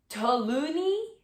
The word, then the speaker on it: toluene: Investigations into the making of scented candles show that most brands use paraffin, lead, benzene, and toluene.